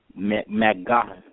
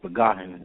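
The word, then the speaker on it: Maccagnan: They're going to go with, I hope I say his name, with Mike McGowan. That's how you say his name.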